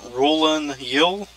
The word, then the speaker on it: Rulanyil: like that um and I think it's pronounced ruling yel Paul the underground city